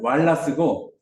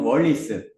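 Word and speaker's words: Wallace: 비온드 베이스예요 그러니까 여기게 그 원어 발음은 왈라 스고 한국에서 부르는 이름은 월리스 그 이금 교수님 하는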